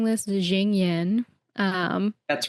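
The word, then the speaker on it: Xingyin: Um, I've been pronouncing this Jing Yin.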